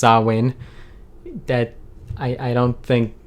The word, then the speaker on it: Samhain: they related with halloween it looks like samhain but it's pronounced sawwin that i i don't